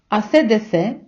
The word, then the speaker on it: AC/DC: б трошки зупинитися і навчити вас як вимовляти іспанською назви деяких музикальних гуртів які ми вимовляємо на англійський лад а от іспанці читають їх і ю а саме у дош асе десе тенсесе це вам на згадку про